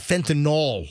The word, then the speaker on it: fentanyl: By the way, again, folks, please, call it fentanyl, N-Y-L, fentanyl. Doesn't matter. Not Your drug dealer gets really mad when you mispronounce it. I don't like when people call it fentanyl. Like, it doesn't sound like Tylenol. It's fentanyl. Doesn't matter.